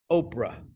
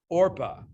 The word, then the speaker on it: Orpah: to be her name, and they started calling this woman Oprah, which is just a misspelling of Orpah. Okay. Her family, unfamiliar with the name, pronounced it and spelled it Oprah from her infancy, though it remains Orpah on her birth certificate.